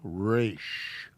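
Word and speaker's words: ר: sound the next one this is a race race it has an r sound dalid or dallet as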